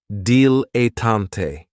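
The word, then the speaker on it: dilettante: Another great noun, which is another one of my favorites, is a dilotant. And this word has three syllables. And there's kind of like a stress on that first and last syllable. Datante.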